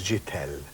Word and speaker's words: Chitell: And the pronunciation apparently is Chitell. Right.